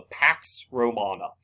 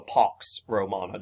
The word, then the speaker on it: pax romana: something ushered in called the pax romana or the pox romana depending on how you want to pronounce the word there and so this